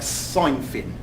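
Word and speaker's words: Cynefin: seen before because it's not spelled like it sounds it's it's actually spelled like sine fin cy n VF yn it's a Welsh word sorry now I'm going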